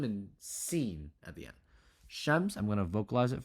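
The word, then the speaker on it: شمس: I did put a little edit note it's spelled like this it's sheim Sheen mem and scen at the end shems I'm going to vocalize it for you right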